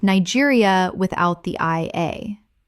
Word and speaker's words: Niger: Niger, like Nigeria without the IA. Correct pronunciation. Niger. The country in West Africa takes a French-influenced pronunciation.